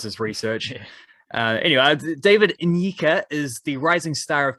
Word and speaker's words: Nyika: His Instagram thing says like pronunciation N-ye-ka. So I think it's Nyika, I think, which I believe is Ugandan heritage.